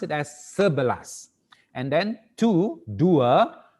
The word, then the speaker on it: sebelas: for the 11 you you're not gonna say satu balas it is wrong we don't say satu balas okay but we say serverless okay pronounce it as serbalas and then to do a doer you say do a blast for 12.